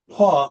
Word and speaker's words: Po: And um this is to the the um metal spirit is as paw, which is spelled p o.